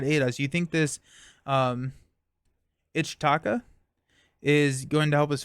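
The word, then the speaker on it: Ichtaca: For future reference, I heard it pronounced Etzli and Ichataka. Okay. Ichataka.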